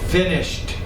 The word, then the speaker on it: finished: Uh finished. Another ed but not ed sound.